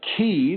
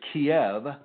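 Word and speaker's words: Kyiv: She's from the city of Kee, which the Americans mispronounce as Kiev.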